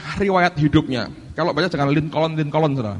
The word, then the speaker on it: Lincoln: Tokoh ini namanya Abraham Lincoln. Ini presiden Amerika. Saya mau tunjukkan akan riwayat hidupnya. Kalau baca jangan Lincoln, saudara.